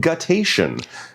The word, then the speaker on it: guttation: It's a cool word, and it's pronounced guttation.